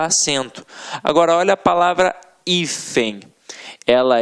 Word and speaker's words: hífen: Ela é uma paroxítona terminada em EM. O EM, que está no nosso quadrinho. Portanto, ela não leva acento. Agora, olha a palavra hífen.